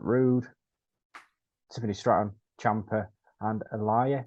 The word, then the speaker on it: Aliyah: Tiffany Stratton Champa and Elia is that how you say her name Alia yeah Aaliyah well Bob road is